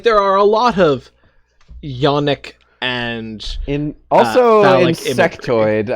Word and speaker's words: yonic: I see, like tonic with a Y.